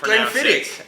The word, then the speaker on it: Glenfiddich: Glenfiddich. Correct. And Brad, do you want to rebuttal that statement?